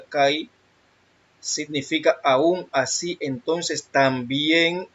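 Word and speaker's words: καί: Primero vamos a la palabra y, que es la G2532, se pronuncia kai, significa aún, así, entonces, también, así, cuando, de la misma manera, en verdad, pero, ¿por qué?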